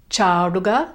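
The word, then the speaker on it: ചാടുക: Jump, chaduga, chaduga. Make sure it's a long a and the retroflex ta, chaduga.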